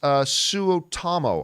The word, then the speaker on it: Suotamo: Jonas Suotamo, I believe is how you say his name.